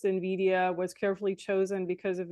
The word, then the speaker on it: Nvidia: So Nvidia name origin, because that is the company that actually invented it.